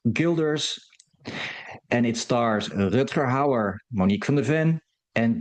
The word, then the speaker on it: Houwer: Turks Fruit, or Turkish Delights, from 1973, the year I was born, produced by Rob Hauer, that is spelled Houwer, pay attention kids, directed by, of